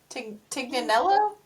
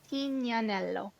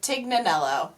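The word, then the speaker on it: Tignanello: It does say pronounced, but let's be real. In the States, most people said tig nanello. Yep, that was me a second ago. Or just plain old TIG.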